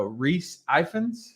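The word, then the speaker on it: Rhys Ifans: Oh, Reese Ifans.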